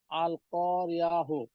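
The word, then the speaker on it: القارعة: আ হ্যাঁ হাফেজ হু, আল কারিয়াহু মাল না না না, এই কারিয়া। হাত হাফেশ হু না, এখানে আপনি থামলে এই তাটা হার উচ্চারণ হবে। ও আচ্ছা, হা তাহলে উচ্চারণ হবে।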